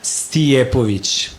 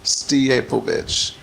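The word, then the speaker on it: Stijepović: Djordje Stijepovic. Stijepovic.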